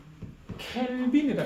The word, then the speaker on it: 켈빈: 절대 온도 켈빈이라 읽어야 된다.